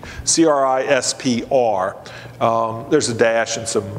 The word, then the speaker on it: CRISPR: It's pronounced CRISPR, but there's no E. CRISPR.